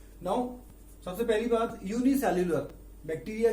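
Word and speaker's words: bacteria: बैक्टीरिया, fungi, protozoa, algae and virus. मैं एक बार फिर से प्रोनाउंसिएशन कर रहा हूं इसका।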